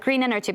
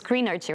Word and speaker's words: Greenergy: companies are prioritizing this i also realized i pronounced it wrongly before i said green energy but it's greener too right